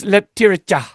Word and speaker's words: Leptirica: And he goes, it's Leptirica. And I was like, Leptirica. Okay, so I have a little bit of an accent. And he goes, that's not even close.